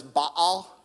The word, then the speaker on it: Baal: "You have abandoned the Lord's commands and have followed Baal." So I learned in college, I had a professor much smarter than me. He studied linguistics at UCLA, PhD, and he actually taught me that it's Baal.